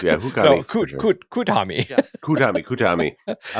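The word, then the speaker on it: Kuthumi: Hootkami. Yeah, Hootkami. No, Kutami. Yeah. Kutami. I like it's spelled 2 different ways.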